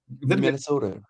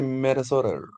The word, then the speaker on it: Minnesota: Okay, na Minnesota, unasema hiyo nimesema vizuri? Minnesota. No, you have to say Minnesota.